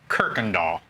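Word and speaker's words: Kuykendall: we're gonna talk with her this is kirkendall oh did i nail it you did oh but you gotta spell it so everybody call it it's not i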